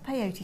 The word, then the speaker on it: peyote: So we're going to go back to peyote stitch for a little bit now. How do you spell that?